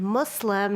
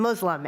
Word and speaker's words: Muslim: know about Islam and Muslims. So number one, Islam and Muslims actually have the letter s. So it's Islam and Muslim, not Islam and Muslim.